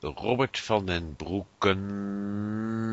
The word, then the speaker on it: Robbert van den Broeke: W well let's Pro let me pronounce it in uh in Dutch V Robert Fen brooken and an do L and for the uh and for our English listeners www.